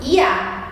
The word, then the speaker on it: ja: escrita e da pronúncia o J em alemão tem som de ir então aqui Jotta A e a gente vai falar iá iá e ou não na